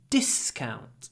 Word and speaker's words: discount: give me a discount try not to say d it's a discount the stress is on the first syllable so it's a we